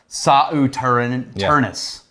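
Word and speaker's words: Sauternes: This was not just their normal casks that they use, but also port, sherry, and sauterne. Okay. Or as the wine people pronounce it, sauternus.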